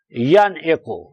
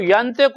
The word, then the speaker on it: ینعق: ینعق، ینعق، ینطق نہیں کا ینعق، ینعق نعق، ایک تو